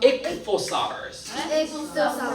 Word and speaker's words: ichthyosaurus: 그 밑에 보시면 이렇게 기울어진 글씨체로 어떻게 읽냐면 ichthyosaurus라고 읽어. 해볼까? ichthyosaurus. ICH를 이렇게 읽는데 찾아봤거든 쌤이. ichthyosaurus라고 하는데 이거는 fish lizard.